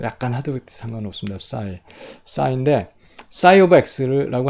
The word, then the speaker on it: psi: 그래서 오메가 앞에 싸이 오메가인데, 그래서 싸이가 있는데, 뭐 P를 발음을 안 합니다. 실제로 PSI 이렇게 쓰는데 싸이예요, 그냥. 근데 뭐 느낌을 좀 내고 싶은 학생은 입을 좀 다물었다 싸이 이렇게 해도 되고 푸가 안 해도 되거든요.